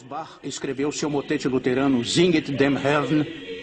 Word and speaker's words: Singet: Então, no coro 2, ele começa com a palavra Singet, 2 sílabas.